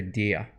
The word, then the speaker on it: der: Now at the end here, I prefer the Italian A for der. And I know there are regional differences on how to pronounce this word, der. I think der is brighter, more in tune, and certainly helps with the forte. So go for der.